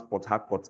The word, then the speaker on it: Port Harcourt: Now in Ekpe, we don't pronounce Port Harcourt as Port Harcourt. We have adapted it to use our intonation, our accent to pronounce Port Harcourt. It's not Port Harcourt, it is Port Harcourt or Port Harcourt.